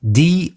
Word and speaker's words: douse: It is spelled D-O-U-S-E and is pronounced douse.